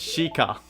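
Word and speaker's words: Sheikah: my people that are known as a shika and pronounce shika I am shik because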